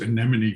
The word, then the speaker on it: anemone: who finally said well if you think any money any money anomaly and so i've been